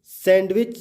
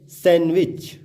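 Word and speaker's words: sandwich: Rule बता रहा है कि जब किसी वर्ड के बीच में एन डी प्लस कॉन्सोनेंट होगा तो डी जो है साइलेंट हो जाएगा, अर्थात डी का उच्चारण नहीं होगा।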